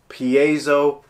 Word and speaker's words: piezo: internet how do you pronounce it it is pronounced P a so piezo pickup what is a piezo well it's actually